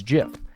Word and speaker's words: GIF: the guy who invented it being like, "It's GIF."